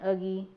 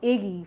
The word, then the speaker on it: Uggy: lot of different names, and so you may pronounce them wrong. So like him over here, for instance, his name is Uggy, but for some reason I wanted to call him Iggy for like the longest, but.